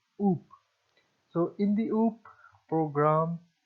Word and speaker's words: OOP: the object oriented programming often pronounced as oops so in the oop